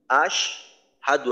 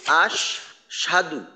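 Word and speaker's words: أشهد: পেশ দু আশ হাদু এইখানে অনেক সময় দেখা যায় যে আশহাদু না হয়ে এমন ভাবে উচ্চারণ করা হয় যে আশ সাধু অর্থাৎ সিনে তাসদিদের মত পড়া হয় হা এর জবরের উচ্চারণটাকে বাদ দেওয়া হয় অর্থাৎ হামজাদ শিন জবর আশ সিন জবর সা দ পেশ দু আশাদু এভাবে উচ্চারণ করা যায় করা হয় এইটা অবশ্যই করা যাবে না কারণ একটা হরফ ওই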